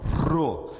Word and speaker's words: Rô: Ele é sempre, ele faz esse tremor na língua e ele é forte, Rô, como em rato.